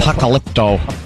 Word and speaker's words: Apocalypto: You saw the movie Apocalypto or how do you say that dumb name? That's it. You got Apocalypto.